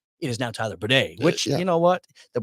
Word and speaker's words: Badie: I get a call from the Broncos and I said, no, it is Badie. Like, we found out this week he came to us and told us it's pronounced this way.